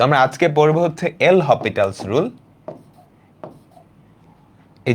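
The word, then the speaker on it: L'Hôpital: আজকে আমরা যেটা পড়বো সেটা আসলে অন্তরীকরণ না, সেটা আসলে এল হপিটালস রুল। এই এসটা আসলে হয় না, বাট উচ্চারণের সময় মানুষ মাঝে মাঝে পড়ে।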